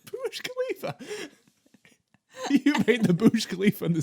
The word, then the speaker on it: Burj Khalifa: You made the Burj Khalifa in the sound I waves.